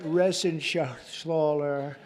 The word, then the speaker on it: Reschenthaler: You know that Reschenthaler. That's actually the way you pronounce it, you know.